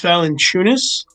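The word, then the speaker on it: Valančiūnas: It's Valanciunas.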